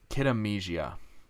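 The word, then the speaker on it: Kid A Mnesia: looks pretty cool yeah um then was kid kid amnesia that's how you say it that comes out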